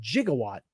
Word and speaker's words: gigawatt: how you I think I think it's pronounced in the movie they said jigawatt right but it's but they spell it gigawatt that's the name of